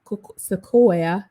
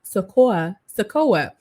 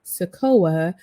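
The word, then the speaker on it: Sikoa: with the help of solo Sequoia sakoa I'm trying to make sure I pronounce it correctly solo sakoa who is the real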